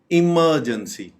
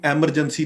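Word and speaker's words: emergency: जहां पे कोई ऐसी सूरत हाल हो तो हम बोलेंगे इमरजेंसी। इमरजेंसी इसको बिल्कुल भी एमरजेंसी नहीं बोलना चाहिए। एमरजेंसी ये बिल्कुल गलत प्रोनाउंसिएशन है।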